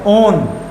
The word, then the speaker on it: one: क्या, कीटोन, और इसका आपको सफिक्स लेना है 3 अल्फाबेट से ONE, और इसको 1 मत पढ़ देना ठीक है, ओन, है ना, ओन, प्रोनाउंसिएशन क्या होगी, ONE की, ओन।